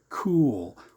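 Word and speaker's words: KEWL: K E WL pronounce cool and eventually they call that the cool institute.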